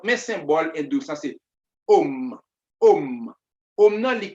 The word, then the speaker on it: Om: C'est un symbole qui est plus sacré, le Om. O-M, mais le prononcer A-U-M. Om.